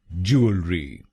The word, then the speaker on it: Jewellery: इसकी सही प्रोनाउंसिएशन है ज्वेलरी। ज्वेलरी। इस शब्द में 3 शब्दांश हैं। पहला शब्दांश है JEW, दूसरा शब्दांश है ELLE और आखिरी शब्दांश है RY। पहले शब्दांश को यानी JEW हम बोलेंगे जू, जू। दूसरे शब्दांश को यानी ELLE हम बोलेंगे अल, अल।